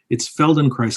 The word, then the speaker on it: Feldenkrais: It's Feldenkrais. I'll spell it for everybody because it's a bit of a nightmare to Google.